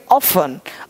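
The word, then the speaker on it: often: का मतलब जल्दी करना, ऑफ टेन क्या पढ़ेंगे ऑफन, अक्सर या प्रायः ऑफन, ऑफनली बोलते हो ना,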